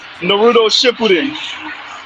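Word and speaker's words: Naruto Shippuden: So Naruto Shepudin, that's how you pronounce this.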